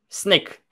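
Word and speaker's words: Snyk: about think uh the sink extension is that how you say it snake snake it's like sneaky being sneaky okay sneak the sneak extension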